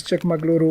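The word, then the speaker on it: Chikkamagaluru: be surprised but I the Right pronunciation is CH maguru or the younger daughters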